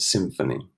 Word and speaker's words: symphony: Remember, the PH makes a sound like an F. Yeah, so microphone and symphony.